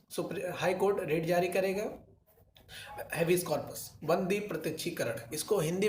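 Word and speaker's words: habeas corpus: इसमें ऐसा है, हैबियस कॉर्पस, हैबियस कॉर्पस कहते हैं इसको हम, इसका सही प्रोनाउंसिएशन है हैबियस कॉर्पस।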